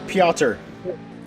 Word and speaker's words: Piotr: cuz I can't pronounce How do you pronounce that? Piotr? Piotr. Piotr? Yeah, so I I did I did an interview with him and he was like, "Oh, feel free to call me Peter."